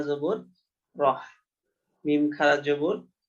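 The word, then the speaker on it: الرحيم: জের মি রহিমি এখানে যেহেতু বাক্যের শেষ এ কারণে মিমকে জের পড়া যাবে না সাকিন করে পড়তে হবে রহিম তাহলে বিসমিল্লাহ হির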